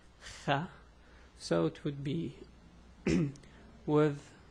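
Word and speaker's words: خ: Anyway, so writing this letter wouldn't be that hard, but the pronunciation, again I'll repeat, Kha.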